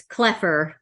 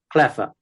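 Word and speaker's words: Kloepfer: I think it's Cleffer. Cleffer. Cleffer, yeah. I believe the P is silent or whatever, so.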